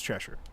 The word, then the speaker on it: Cheshire: And so I tried looking up how you're supposed to pronounce it. And from what I understand, it is Cheshire.